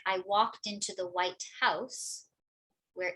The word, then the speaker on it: White House: So for example, if I'm talking about the White House, white will receive more stress than house. It's the White House. But if I say something like, I walked into the White House, where it's just a